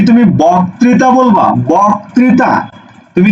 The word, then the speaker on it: বক্তৃতা: তুমি কি বলো বক্তৃতা তুমি কিন্তু বক্তৃতা বলো না তুমি বলো কি বক্তৃতা বোক বৌকার ক বোক তাহলে তুমি লিখে ফেলো বৌকার তুমি লিখে ফেলো বৌকার ক বক ত্রি তা এটা হচ্ছে উচ্চারণ এটা